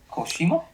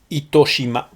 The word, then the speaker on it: Itoshima: Koshima? Itoshima. How do you spell it? How do you spell it? Nito? Ito. I-T-O. I-T-O? Shima. S-H-I-M-A.